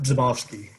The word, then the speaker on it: Zomovsky: pronounce your last name it's pronounced zomovsky it's uh the b and the z you gotta say it together like a you know crazy constant cluster um thank you sir